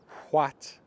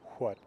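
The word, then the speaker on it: hvat: as a V, but I do believe that after another consonant in the 1200s, it was still a W sound, but only after another consonant. So that what sounds roughly like older American English, what, where you actually have that H pronounced. What, what.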